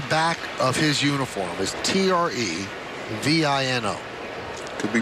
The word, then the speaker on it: Trevino: And everybody has been calling him Trevino because it does not have the tilde over the end.